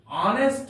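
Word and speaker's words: honest: आवर में H silent है यहां पर इसका उच्चारण नहीं किया जाता है इसलिए यहां पर एन का प्रयोग किया गया है एन ऑनेस्ट मैन एच ओ एन ई एस टी एन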